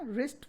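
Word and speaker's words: wrist: और रिस्ट में RAPPED, wrapped अगर आप बोलें तो आप ये वर्ड प्रोनाउंस कर लेते हैं, लेकिन हमारे स्पेलिंग में W से स्टार्ट होता है। Wrapped, wrapped the रिस्ट, W इसमें भी साइलेंट है और W रिस्ट में भी साइलेंट है।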